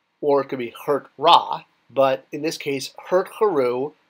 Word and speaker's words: Ra: want to bring it up it can mean raw PR or really pronounced Raw raw which if you know your